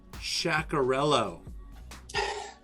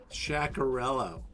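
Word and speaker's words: Sciaccarellu: chart here pronunciation guide it's pronounced chakarello shackarello that is nice that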